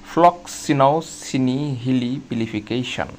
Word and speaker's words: floccinaucinihilipilification: এর বাংলা বা এর উচ্চারণটা হচ্ছে ফ্লক্সিনওসিনি হিলি পিলিফিকেশন। আপনারা উচ্চারণটি দেখতে পাচ্ছেন প্রোনাউন্সিয়েশনটা করলে কি দাড়ায় যে ফ্লক্স সিনাও সিনি হিলি পিলিফিকেশন।